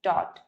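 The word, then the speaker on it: taught: English में pronunciation इसका होता है टॉट.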